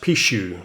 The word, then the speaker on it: Pixiu: one here the double picks you coin now my the Chinese lady the Perth Mint tells me it's pronounced pshew so there it is